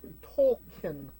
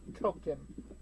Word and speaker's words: token: Chris Jericho's running tree it's pronounced Tolen not token get it right sco no he's